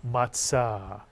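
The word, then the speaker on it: מצה: Matzah Mitsuyan, unleavened bread, the flat bread eaten on Passover. You'll hear people call it matzah, but the Hebrew pronunciation in Sephardic is matzah, mitsuyan.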